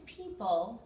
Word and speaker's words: people: is our sentence blind people use their sense of touch and also the O in people is silent too the sounds of letter